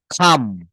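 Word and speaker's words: come: এটা আমরা কাম বলি, কিন্তু আমি আপনাদের প্রোনাউন্সিয়েশনের ক্লাসটা যখন নিব তখন এই কামটা, এটা ক কে খ বলতে হবে, খ, খাম, খাম, খাম, হ্যাঁ।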